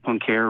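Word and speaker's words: Poincaré: p-o-i-n okay sorry the in mathematics there's something called the pancare recurrence theorem um my name is saying it wrong but it's like p-o-i-n-c-a-r-r-e so that's not familiar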